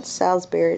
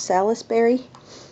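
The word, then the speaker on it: Salisbury: of salace Berry Steak how do you say it anyway it's not salesberry it's salisbery and why do they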